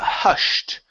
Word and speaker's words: hushed: Uh, next is uh hushed here instead of hushed. Okay. Ed ending. Hushed with a t.